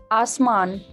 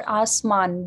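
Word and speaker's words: आसमान: So the singer is saying that Asman, Asma or Asman, both are correct pronunciations.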